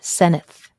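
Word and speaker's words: Senedd: government called the SE senith pronounced senith in Welsh okay and okay everybody's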